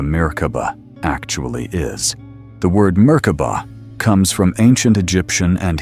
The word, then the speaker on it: Merkaba: The word merkoba comes from ancient Egyptian and Hebrew roots. In one interpretation, it breaks down into three syllables. Meaning light ca meaning spirit and ba meaning body.